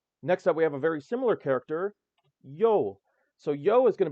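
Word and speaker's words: Ё: Pronunciation is yo. Name, yo.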